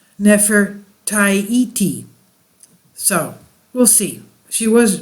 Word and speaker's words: Nefertiti: and Lower Egypt and while modern need to talk to go pronouncing pronunciation renders her name as Nefertiti her name was probably contemporaneously pronounces never tie et so we'll see she